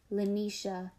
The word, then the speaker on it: Lanisha: It sounds like bells when she says it. The second syllable is bright and crisp, not like Mama Yaya, who calls my name, drawing out the third syllable like the aw sound.